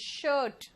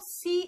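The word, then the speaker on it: shoe: Then shirt, ठीक है ना, इट्स शर्ट। यहां पे ध्यान रखना, दिस इज शर्ट। अब आओ सी एच, ये भी श है, शेफ नहीं है ये, इट्स शेफ।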